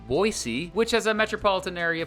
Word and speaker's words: Boise: idaho's biggest city is boise or as the locals say boise which has a metropolitan